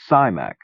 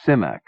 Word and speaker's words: Simak: name was long and thought of him always as simac actually the eye is short and it is simac it may seem a